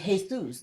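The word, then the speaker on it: Jesús: Jesus, that No, it's Hay Zeus, right? In another country.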